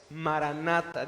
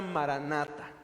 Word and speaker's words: maranatha: y la palabra es maranatha diga conmigo en voz alta maranatha maranatha significa el señor viene es una palabra que se escribe en griego pero es una transliteración del hebreo significa el señor viene